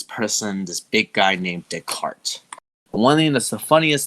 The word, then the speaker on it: Descartes: to his theory is his name which is sounds you know Descartes d e and then C A R T but it's spelled itself it would based on its spelling it would sound like desk um and he became